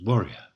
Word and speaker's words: warrior: Note, of course, that famoused is pronounced with 3 syllables, famoused, whereas warrior is pronounced contracted with almost only 2 syllables, warrior. So everything is pronounced, but in 2 syllables, warrior.